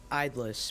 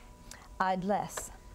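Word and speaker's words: idlesse: Idlus, may I have the definition, please? The quality or state of being unoccupied or unemployed. Idlus. Idlus. Are there any alternate pronunciations? Idless.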